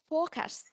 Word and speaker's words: forecast: Mình cố chú ý giúp em là mình có cái đuôi S và đuôi T nó sẽ là cái ending sound á. Thì mình sẽ đọc luôn em ạ. Ok. Forecast. Yes. Âm S và âm T.